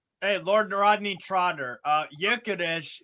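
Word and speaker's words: Gyökeres: Lord Rodney trod uh yukes is how you say Victor g g y o k r his name yades it's Hungarian actually he's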